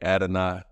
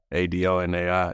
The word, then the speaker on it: Adonai: called by my name, Adonai, Adonai. It's pronounced Ad-N-I. If you think about it like that, it's a little easier.